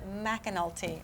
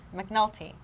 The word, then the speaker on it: McAnulty: arc, and it's Stacy McAnulty. I always say her name, McNulty. McAnulty. Anyways, but it's her new